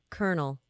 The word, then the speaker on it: colonel: I cannot think of a a worse one kernel the fact that that is how kernel is spelled they're two different kernels but that like